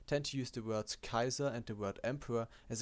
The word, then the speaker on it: Caesar: caesar short excursion sorry the white pronunciation would actually be kaiser so pretty similar to the german title kaiser that's because in latin we give the letter c a q sound a and e in combinations out like i and the letters s a and r we pronounce as sar going back in a